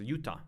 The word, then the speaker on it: Utah: yura um right utah that's what i pronounced utah not yuda right this thing uh